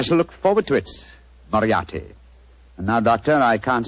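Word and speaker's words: Moriarty: I'll have to begin calling it the way it looks m o r i a r t y mariati mariati I shall remember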